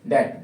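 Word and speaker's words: debt: डेट। डेट means कर्जा। तो ध्यान रखेंगे यहाँ पे बी आ रहा है और बी के बाद में क्या आ रहा है? टी। साइलेंट किसको करना पड़ेगा? बी को।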